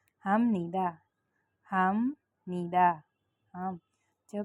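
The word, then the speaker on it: 합니다: तो मैं यहाँ लिख रही हूँ हम नीदा, हम नीदा। तो यहाँ पर आप देखें तो हाफ नीदा, हम हाफ नीदा नहीं बोलेंगे, हाफ नीदा नो। फ और न मिल के म साउंड करते हैं, म बोलना होता है।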